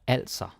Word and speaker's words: altså: Don't say altså. I hear some learners, they do this, and yeah, it's okay to make mistakes, but you can totally avoid that. And the Danish A, right here, A, it can never be pronounced like English, like awesome or awful or anything like that. Like if you say also, it sounds Swedish.